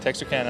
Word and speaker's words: Texarkana: I am here with Dustin Moseley from Texarkana, Arkansas. Did I say it right? You did, Texarkana, Arkansas.